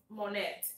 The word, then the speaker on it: Monet: En español su nombre es Monet, pero en inglés es Monet, porque la T es silencia en inglés y la O se pronuncia como la A, así larga.